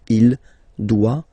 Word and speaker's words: doit: Final T not pronounced. Il doit.